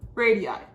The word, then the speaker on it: radii: Because this line that goes all the way across is literally just 2 radii. That's how you pronounce it plural.